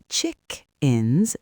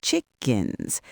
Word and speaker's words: chickens: Notice it's chickins, not chickens.